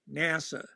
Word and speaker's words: NASA: and by the way it's always NACA not you never you never pronounce it as a word okay and you once it flips never pronounce the letters okay it's always NASA right so there it's